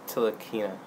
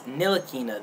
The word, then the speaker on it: Ntilikina: It's Frank Ntilikina. It's Ntilikina. The T is silent, people.